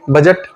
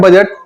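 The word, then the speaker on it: budget: यह जानना जरूरी है एक स्पेलिंग देखिए बी यू डी जीी टी बजट इसमें डी गायब है पढ़ते हैं बजट स्पेलिंग लिखते हैं बीय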